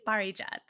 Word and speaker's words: Parijat: sure no but you said it great it's Bari jth okay and give a quick quick intro from